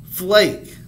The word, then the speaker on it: flake: fluff then we got remember the silent e at the end makes it a long so this would be eight plus eight plus eight what's the word flake very good like snow